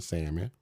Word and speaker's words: salmon: But I also want you to have some standards and be able to, and don't pronounce the L in salmon. Salmon.